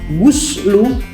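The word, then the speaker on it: غُسْل: Nah, itu kalau goslu kalau seandainya dibacanya domah, giminnya dibaca domah, guslu, alguslu, berarti itu bukan membasuh maknanya, maknanya mandi.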